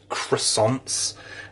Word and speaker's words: croissant: Well, first of all, it is Tesco Finest all butter croissant, or croissants, as you say in America. You pronounce the R for some reason.